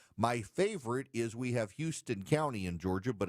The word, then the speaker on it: Houston: K-A-R-O, but nope, it's spelled Cairo, but they pronounce it Cairo. My favorite is we have Houston County in Georgia, but it's Houston County in Georgia.